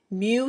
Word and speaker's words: mu: symbol is it's a Greek symbol and it's pronounced mu mu mu and all mu is is a